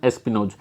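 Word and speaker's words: espionage: टैक्स स्पनेज, ये क्या होता है, स्पिनोज, बताओ टैक्स एस्पिनोज क्या बोलते हैं इसको, एस्पिनोज ये होता है, इसकी प्रोनाउंसिएशन एस्पिनोज।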